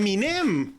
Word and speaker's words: Eminem: Y decía Ah Es minem yo toda la vida lo había escuchado era Eminem no pero pero aquí en Estados Unidos se pronuncia m y no no se le da énfasis la e es Es como un